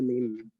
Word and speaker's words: من: জি এটার ওস্তাদ উচ্চারণটা দুই ঠোঁট না লাগিয়ে একটু ফাঁকা রাখেন, উপরে দাঁত নিচে ঠোঁটে বসান, দুই ঠোঁটটা একটু সামান্য ফাঁকা রাখেন, বিড়বিড় আওয়াজ বের হতে থাকুক।